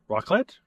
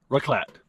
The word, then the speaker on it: raclette: Raclette? Raclette. Raclette. Raclette. Raclette. Raclette. Okay, it's pronounced raclette, but basically it's broiled cheese on potatoes and bread.